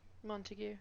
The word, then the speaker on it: Montague: Montague, good.